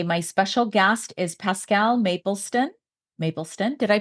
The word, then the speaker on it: Mapleston: Today, my special guest is Pascale Mapleston. Mapleston, did I pronounce it right?